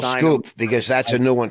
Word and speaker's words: Schoep: how do you spell Scoop? Because that's a new one for everybody. No one's going to get that one. Okay. How do you spell it? SCHOEP.